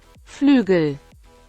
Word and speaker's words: Flügel: Pronounce. Flügel.